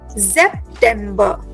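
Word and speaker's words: September: यस सो नाउ बट you have to take care for सेप्टेंबर there is एन एस सो you need to give the ji sound रिमेंबर सो it will be pronounced as जेपेंबर जेपर ज़ good Nitin perfect या जेपर okay जेप सेप्टेंबर।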